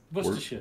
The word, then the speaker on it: Worcestershire: Is it Worcestershire? No R. Worcestershire. Worcestershire. Yeah, you've got it. The trouble is, it's spelt Worcestershire, but we don't say the Shires unless you're in a Hobbit land. Unless you're in a Hobbit book. It's a sure. It's sure. It's a sure. Sure.